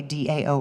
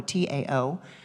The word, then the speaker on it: Dao: In the Dao, which is a spiritual philosophical tradition that comes out of China, the Dao or the Tao, you may have heard it pronounced either way, Dao or Tao.